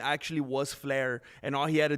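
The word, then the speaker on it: Fliehr: His last name is Flare. It actually is Flare, but it's pron it's spelled F L I E HR.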